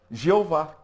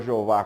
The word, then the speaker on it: Jeová: Esse enxerto gerou a pronúncia Jeová.